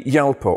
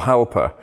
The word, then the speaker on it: Jalpa: car this time around the yalpa or halper the letter j doesn't exist in italian officially so it's quite difficult to know exactly how to pronounce it i'm sure lots of